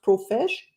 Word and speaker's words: Profesh: profesh is it pronounced profesh it is yes like a professional yes profesh with the